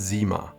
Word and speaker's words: CYMA: It is pronounced CYMA, with the addition of Tavannes, and I will explain why this is here on this dial in a minute.